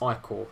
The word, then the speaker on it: ichor: I can sense magical ichor, pronounced ichor.